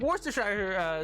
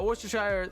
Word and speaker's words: Worcestershire: Worcestershire sauce is made of anchovies, so I've heard. Is it? Typically don't pronounce it as either sheer or shire, but sheer is closer.